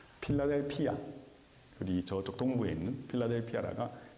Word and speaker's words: 필라델피아: 그래서이 형을 사랑하는 자가 세운 도시이기 때문에이 도시의 이름이 빌라델비아. 이거 한국식 발음이고요. 필라델피아.